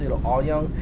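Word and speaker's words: Auyeung: It's pronounced Aoyang. It's really hard because you can see there are 5 vowels kind of strung together. A-U-Y-E-U. Those are all vowels, right? And then NG is a single consonant at the end.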